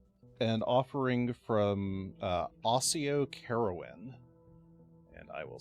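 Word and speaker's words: Carowyn: this is um an offering from uh oio caroan and I will spell that out for you a u s IO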